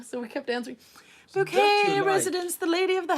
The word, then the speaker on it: Bucket: Bucket, says Raymond. It's pronounced bouquet.